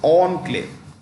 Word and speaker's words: enclave: is it called Enclave it's pronounced on Clay yeah you have let's